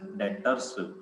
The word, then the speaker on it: Debtors: डेप्टर बोल दो आप, डेटर बोल दो, ठीक है। प्रोनाउंसिएशन आपकी कुछ ऐसे होगी, DEBTORS, डेटर्स।